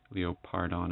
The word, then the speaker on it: Leopardon: Popey deluxe the diecast leo pardon or little Paul done if you like the way through in here but I mean they pretty much do pronounce it leo part on in the TV show anyway it's Spider man's